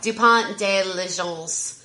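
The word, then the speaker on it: Dupont de Ligonnès: Do you want to pronounce that last name for me? It's Dupont de Legence.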